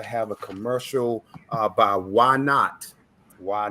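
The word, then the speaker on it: YNOTT: of the waianae foundation why not it's spelt y-n-o-t-t and it's acronym for youth needing organ tissue transplants my great friend hey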